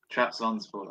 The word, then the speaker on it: Trabzonspor: Yeah, he plays in the Turkish league now for Trabzonspor. I don't know how you say it. Trabzonspor. Trabzonspor, that's it.